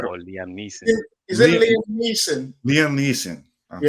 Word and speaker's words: Liam Neeson: I forgot the name of it, but Lisa Neum, he's on a plane. And Lisa Neum or Liam Neeson? Is it Liam Neeson?